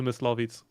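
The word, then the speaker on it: Myslovitz: You need to listen to Miss Lavitz. Okay. Oh, what is it? What is it? Mitz. It's spelled weird.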